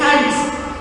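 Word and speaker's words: χάρις: en el griego y se pronuncia en griego gracia es haris y estuvo investigando Qué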